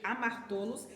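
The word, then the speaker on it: ἁμαρτωλός: Então, aqui, quando fala ele é pecador, tem uma palavra chamada amartolos. Amartolos é uma pronúncia grega para a palavra pecador.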